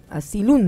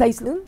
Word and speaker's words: Asylum: serie American Horror Story, Asylum, ¿no? Ajá. ¿Pero es Asylum? ¿Se pronuncia? No, es Asylum, como Asylum.